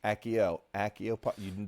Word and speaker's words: Accio: So we got to go with the hard double C. Okay. Accio.